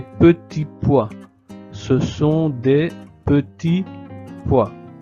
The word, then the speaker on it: petits pois: Ce sont des petits poids sans prononcer la t de petit poids et non petite poid.